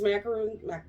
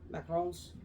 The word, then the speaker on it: macarons: um so hey Abby do you want these macaroons how do you say it macarons macarons can you eat those so I don't